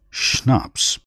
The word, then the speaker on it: schnapps: that was the end of the matter schnapps pronounced schnapps a german drink made from grain cello a musical instrument like a large violin page 12.